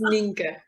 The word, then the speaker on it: Ninke: You can say whatever you like, but it's Ninke.